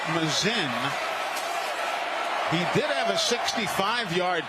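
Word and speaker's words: Masin: Frazier Mazin spells his last name M-A-S-I-N. M-A-S-I-N. Pronounces it Mazin.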